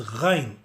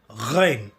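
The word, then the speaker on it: غين: Let's go to the next letter, which is Ghain. To pronounce Ghain, we need to add the gargling sound, which is with the G sound. Then it will become Ghain, Ghain.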